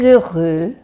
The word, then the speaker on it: heureux: Très heureux. La H es muda, se hace la liaison, la unión, que a veces se me olvida.